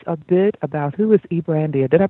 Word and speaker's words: Brandia: Brandia, and you pronounce it exactly how it looks.